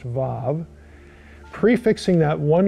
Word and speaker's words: vav: In simplest terms, the normal way of narrating sequence is to prefix a one-letter conjunction, the vav, it's spelled W-A-W but pronounced vav, prefixing that one letter to the verbs that occur in succession.